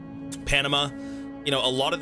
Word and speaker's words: Panam: How do you pronounce her name? Panama, like Panama. No. Oh, is it Panam? Panam. I thought it was Panama.